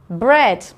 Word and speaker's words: bread: EA says eh. So let's have a look at the vocabulary. The first one is feather. Feather. Bread. Bread. Head. Head. And heavy. Heavy. Okay, so feather, bread, head, heavy. They all make the same sound, air, but they're all spelt with an E-A. We just don't hear the A, just the E.